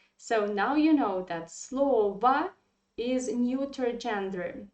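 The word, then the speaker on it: слово: have to say that this word slova is very tricky for foreigners who study russian language because we pronounce slova yeah and they think that it is feminine gender i mean even not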